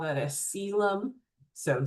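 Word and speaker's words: coelom: We call that a cylum. So spelled colum but it's pronounced cylum.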